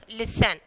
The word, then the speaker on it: listen: Okay, and then ballet, and then listen. So, here T is the silent letter.